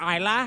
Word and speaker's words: Isla: Isla, get in here, Isla. Top moments of the week. The S is silent because we can afford extra letters.